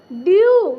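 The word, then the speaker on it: dew: क्या करेंगे, यू उच्चारण करेंगे। तो देखिए इसे हम पढ़ेंगे न्यू, क्या पढ़िएगा, न्यू। देखिए डी ई डब्ल्यू ड्यू, क्या होगा, ड्यू।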